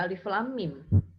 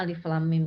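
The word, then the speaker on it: الم: Ada mim ketemu dengan mim, maka dibacanya gunnah. Ya, jadi cara membacanya seperti ini. Alif lam mim. Jadi huruf mimnya dibaca gunnah 2 harokat. Alif lam mim. Jangan dibaca alif lam mim. Itu tidak ada gunnahnya itu.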